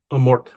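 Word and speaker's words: Amorth: Amort. I keep saying Amorte with like an accent at the end. Apparently, that's not how it's pronounced. It's Amort.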